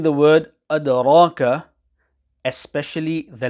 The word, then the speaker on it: أَدْرَاكَ: When pronouncing the word adraka, especially the letter dal, care needs to be taken to ensure that the dal is not pronounced as per the English D. Hence, to say adraka will be incorrect.